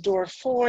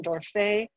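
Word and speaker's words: Dorfeuille: records to prove that some people pronounce his name as door for but I'll go with the French pronunciation door Faye he was recruited from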